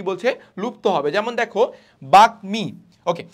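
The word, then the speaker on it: বাগ্মী: যেমন দেখো বাকমি, ওকে, সো বাকমি, ওকে, এখানে কি ম কি তোমার হারাই যাচ্ছে, না, ম হারাই যাচ্ছে না, তাহলে বাকমি আমার উচ্চারণ হচ্ছে।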